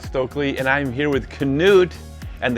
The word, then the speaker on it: Knut: Hey everyone, I'm Stokely and I'm here with Knut, and the K is not silent, it is pronounced yes. Knut Håland, one of my